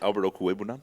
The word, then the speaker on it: Okwuegbunam: Yeah, Albert Okwuegbunam. That's great pronunciation.